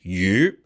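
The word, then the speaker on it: 鱼: so here's an example the word fish in Chinese is you and it sounds like the word for Surplus meaning like a surplus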